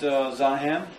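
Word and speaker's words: זעם: It's pronounced Zahem.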